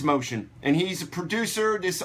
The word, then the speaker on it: Mocean: over up here it's not M Keen it's motion and he's a producer this are his I